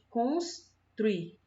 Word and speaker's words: construir: A gente não fala construir. Construir. A gente fala construir. Construir. Tá vendo o saltinho?